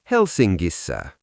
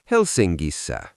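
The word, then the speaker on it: Helsingissä: In Finnish logic, NK softens into a ringing NG sound. Student, how do you say in Helsinki using the SSA ending? Helsingissa. Great. You can hear that G sound appearing.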